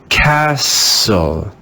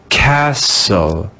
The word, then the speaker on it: castle: no sound at all there is a silent t in english let's read this word with a silent t castle castle castle now that we have